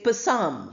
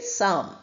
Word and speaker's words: psalm: So we don't say psam. We say psalm.